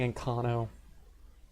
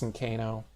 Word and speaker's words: Ancano: is a height whatever and I keep saying in cano it's in Kano that's how I hear people pronounce it in Skyrim who knows I mean